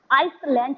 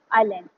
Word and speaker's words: island: इसको पढ़े आई लैंड। ठीक है, एस इसमें साइलेंट होता है, इसे आइसलैंड नहीं पढ़ेंगे। ठीक है, आइलैंड, ISLAND, आइलैंड, मतलब एक